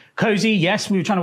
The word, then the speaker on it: KOSI: Cozy. Yes. We were trying to work out what to come up with and then Ko Ko nil. Yeah. Si Si. Cozy. Get cozy.